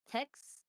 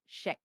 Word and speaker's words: Kex: Tex or Chex? How's it spelled? K-E-X.